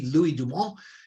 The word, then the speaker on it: Louis Dumont: His name is Louis, to pronounce it in English, Dumont, D-U-M-O-N-T, Louis Dumont, is written in French.